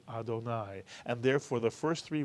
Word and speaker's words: Adonai: Baruch Atah, and then instead of saying Irving or Sadie or God's name, we say my Lord or our Lord or O Lord, and we pronounce it Adonai.